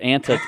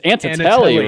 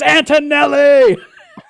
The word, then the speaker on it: Antonelli: did I say inta is it antis antis telly it's Antonelli right it's Antonelli he had to yell